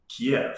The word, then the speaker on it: Kiev: before the war um we said kiev so did locals yeah because but i think it's a russian pronunciation the big city in